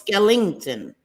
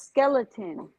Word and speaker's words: Skellington: Before Christmas Skellington Skellington yes Skellington no it's Skellington I don't think so I think it's skeleton just a skeleton is it no it's Jack